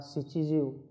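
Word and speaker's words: 七十: Rồi, tiếp theo là gojyu, rokujyu, nanajyu hoặc là shichijyu, chúng ta đọc là shichijyu.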